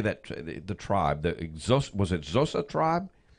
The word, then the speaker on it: Xhosa: The tribe, was it Xhosa tribe? If you try using it like a K, the Xhosa tribe.